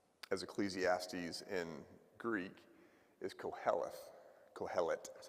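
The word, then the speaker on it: קהלת: gets translated um as Ecclesiastes in Greek is calth calet that's how you pronounce it and that means teacher or preacher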